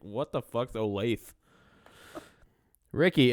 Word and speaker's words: Olathe: I love how they spelled Olathe. Olatha. Phonetically.